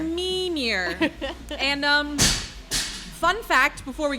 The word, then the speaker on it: Mimir: So it's, give me the pronunciation, the correct pronunciation. Mimir. Mimir.